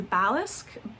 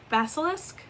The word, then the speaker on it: basilisk: And then you have, oh, come on, rider, who is the balis. Basilisk. Basilisk. That's how you say it.